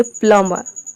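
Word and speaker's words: plumber: आर को आप जब साइलेंट रखेंगे तो आप बोलेंगे प्लम्बर, प्लम्बर, यानी कि जब आप प्रोनाउंस करेंगे तो आर का साउंड अपने आप आएगा।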